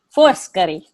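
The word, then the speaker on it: Foscari: and by the way you have to say first curry force curry force curry thank you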